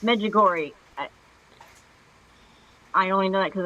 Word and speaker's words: Medjugorje: to not pronounce. The G or Medjugorje the sounds J good. are any of them silent? It's Medjugorje.